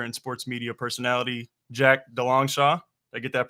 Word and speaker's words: DeLongchamps: I'm your host, Chase Upton, and today I'm joined by broadcaster and sports media personality Jack Dongshaw. I get that pronunciation right?